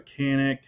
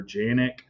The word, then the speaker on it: Canik: a glock we've got a Canik or Janik yeah I know it's pronounced different ways okay so a lot